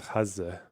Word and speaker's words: Gaza: The closest I can get is when I think of my dad saying it and he says Hazza.